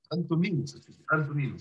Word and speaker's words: Antoninus: Antoninus. That's the way that we pronounce his name.